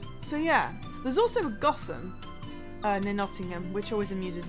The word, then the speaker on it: Gotham: I know it's pronounced Gotham, but it doesn't stop me saying, "Ooh, I wonder if Batman's there" when I go past.